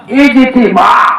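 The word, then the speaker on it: ইজতিমা: আমাদের সহি শুদ্ধ নাম কোনটা ইজতেমা ইজি ইতিমা এটা হইলো সহি শুদ্ধ নাম কিন্তু এইটা উচ্চারণ করতে আমরা যে কঠিন হয় এর লাইগা নাম দেইখাইছে ইজতেমা আচ্ছা যাও ইজতেমা তো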